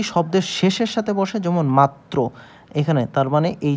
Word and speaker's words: মাত্র: র ফালা যদি শব্দের শেষের সাথে বসে যেমন মাত্র এখানে তার মানে এই যে ত আমরা এখানে